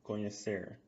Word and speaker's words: conhecer: So a trickier verb is conhecer. Now the NH sound, we learned this in the pronunciation lesson a long time ago. Conhecer, yeah. It's very similar to the N with the tilde in Spanish, right?